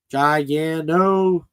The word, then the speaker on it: Giganotosaurus: Here's how to pronounce Giganosaurus the right way. Giganotosaurus.